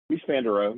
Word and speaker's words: Mies van der Rohe: Is it Mies van der Rohe? Mies van der Rohe.